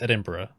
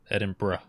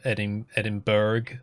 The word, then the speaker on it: Edinburgh: place to visit um apparently interesting place to pronounce as well yeah oh yeah okay so many people get it wrong it's it's edinburgh edinburgh that's that's how you say yeah um loads